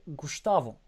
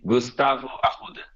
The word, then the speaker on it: Gustavo: pushing the French pronunciation it's supposed to be Gustavo um it depends on the region of Brazil but you can say Gustavo yeah let's go okay